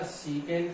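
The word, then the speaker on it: secant: Hypotenuse को base से divide करें तो इससे नाम निकल पाएगा सीकेंट थीटा। लिखने का नाम सेक है, सेक नहीं बोलेगा कोई भी, ये आप ध्यान रखिए, इन चीजों की प्रोनाउंसिएशन भी बहुत जरूरी है।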